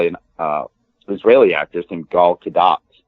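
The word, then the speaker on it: Gadot: uh Israeli actors named G kadat you pronounce the hard T but apparently the country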